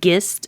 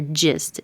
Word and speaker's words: gist: a guess, should it be gist or gist? It's a good guess to go with the j because it's followed by an I.